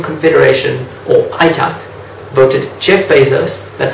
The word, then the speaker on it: Bezos: That's why in 2014, the International Trade Union Confederation, or ITUC, voted Jeff Bezos, that's how you pronounce it, as the worst boss ever.